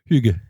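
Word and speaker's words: hygge: Huga. How is it pronounced? Huga.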